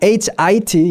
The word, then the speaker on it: hit: 길이도 다르지만 소리도 달라요.